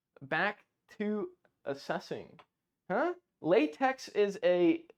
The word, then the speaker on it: LaTeX: math formulas into latex it's not actually pronounced latex because the x is silent but you know who